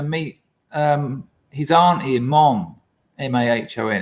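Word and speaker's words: Mahón: meet his auntie in Mon, M-A-H-O-N. It's pronounced Mon.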